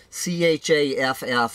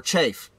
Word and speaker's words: chaff: military chaff or chaff c-h-a-f-f i've heard that word pronounced chaff or chafe okay anyway that's not